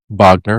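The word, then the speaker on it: Wagner: Mo Vagner. Okay, that's how you pronounce that. Vogner.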